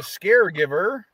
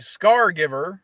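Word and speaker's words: Scargiver: part two part two the scare Giver or I'm sorry scar Giver I pronounced that uh is sitting at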